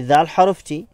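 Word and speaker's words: دال: মনে রাখতে হবে যে জিহ্বার অগ্রভাগ সামনের উপরে যে দাঁত আছে সেই দাঁতের সাথে স্পর্শ হবে এবং সামনের অংশ সামান্য পরিমাণ বের হয়ে আসতে হবে এবং বাইরে থেকে যেন দেখা যায়। আমরা এইভাবে করে উচ্চারণ করব দাল হরফটি। অর্থাৎ এই চিত্রের দিকে লক্ষ্য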